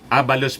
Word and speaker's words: Abalos: Sabi po ni Benhur Abalos, Abalos pala ang pag-pronounce yan, Benhur Abalos.